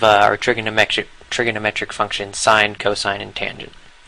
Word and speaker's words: cos: a function called cosine this we abbreviate cos but we still pronounce it as cosine of a cosine of